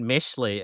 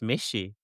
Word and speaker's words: Mishi: So, congratulations on you guys for one for being Oh, you keep pronouncing it Mishley. It's Mishi.